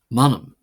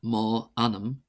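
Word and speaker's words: m'ainm: So for example we have manom not mo anam however in some parts of believe that is used but standardly it's just uh at least in most gay dialects it's manom manom meaning my name manam manom it's from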